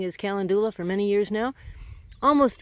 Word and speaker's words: calendula: here i'm really happy with these uh my calendula that i've been mispronouncing is calendula for many years now almost ready to bloom